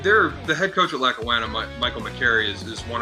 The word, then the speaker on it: Lackawanna: Lackawanna College am I saying it correctly yeah Lackawanna baby Scranton PA Kyle Scott his third year